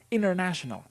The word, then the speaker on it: international: confused and we say, I think it's international, but they didn't pronounce the T.